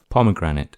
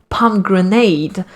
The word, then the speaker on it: pomegranate: was pronouncing the name pomegranate pomegranate i was mispronouncing it i was pronouncing it as palm grenade like it's a type